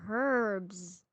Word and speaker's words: herbs: Bitter herbs. Herbs? Okay, you need bitter herbs. The H is silent.